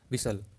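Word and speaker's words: whistle: करेंगे 37 है आपका च letters are silent in the word विसल तो यहां पर देखिए कौन सा वर्ड साइलेंट है इसमें आपको बताना है यहां पे आपका एच एंड टी यानी जो विश दिया हुआ है आपका इसमें एच एंड टी आपका साइलेंट है तो राइट जो ऑप्शन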